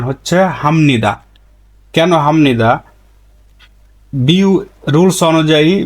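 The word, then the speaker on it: 합니다: এভাবে লিখতে হবে কিন্তু উচ্চারণের সময় আপনাকে এভাবে উচ্চারণ করতে হবে হামনিদা আপনি যখন লিখবেন লিখবেন তখন এভাবে লিখতে হবে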